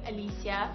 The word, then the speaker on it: Alysia: variations of the name a lot of people say it's because smelling that it's pronounced this way but I've always known it to be pronounced my way Alysia I'd like to think